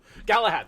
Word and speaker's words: Galahad: to say it differently it's the same word galahad thank you yeah yeah galad galahad galahad gallahad galahab galahad yes galahad okay okay